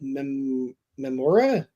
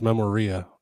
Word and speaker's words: Memoria: It's called Memora. Oh yeah, No, I got that one on the PS5. Yeah, that's Memoria. Rhymes with gonorrhea.